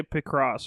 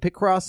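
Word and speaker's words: Picross: picked I don't know I want to say pick cross or pipe it's pick Ross I see cross that sounds right pick Ross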